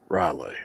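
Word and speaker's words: R'lyeh: Riley. Okay. My my hillbilly dialect would not let me pronounce that right.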